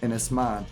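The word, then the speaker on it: Ynys Môn: inis man inis man inis man that's how you pronounce it in the old language inis man I don't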